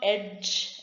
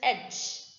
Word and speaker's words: edge: so handsome next edge it is not edge it is edge just skip d the edge of the